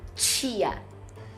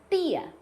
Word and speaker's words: tia: Essa palavra aqui, a irmã da sua mãe, como que você pronuncia essa palavra em português? Fala aí em voz alta. Eu falo tia, tia, tia. mas muita gente vai falar tia.